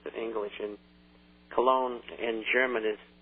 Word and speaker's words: Cologne: Germany that's how it's pronounced in English in Cologne in German is pronounced Kon